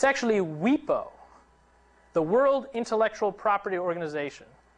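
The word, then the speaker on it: WIPO: that was called anybody know how this is pronounced it's actually we PO the world intellectual property organization that because they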